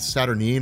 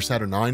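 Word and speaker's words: Saturnyne: group that's led by a woman named saturnine or saturn 9 if you want to pronounce it that way she's what's called the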